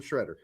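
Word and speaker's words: Sciaretta: Shredder and they're like it's not pronounced Shredder it's sketta or whatever it's like hey we had this dude on our show and before the show started yes I asked him hey so it's Shredder right he's like yes please pronounce my name Shredder so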